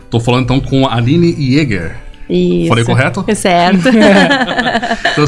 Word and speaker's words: Jäger: Sim, mas é que como eu sou da área do inglês, muita gente sempre acha que meu sobrenome é Jagger, né? Parente do Mick Jagger, mas não, é Jäger.